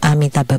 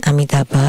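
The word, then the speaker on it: Amitābha: of the name of amitaba Buddha the a in amitaba is very important and should not be pronounced as om for like in the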